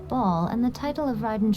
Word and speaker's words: Baal: that the electoral archon ball has passed okay you pronounce it ball yes the truth of the matter